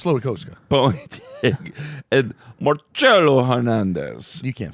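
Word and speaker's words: Slowikowski: It's Slowikowska.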